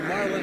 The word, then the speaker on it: Marlin: that is Sterling or Sterling Martin which is it Marlin I should say which is it yeah it's Marlin and it's Sterling and the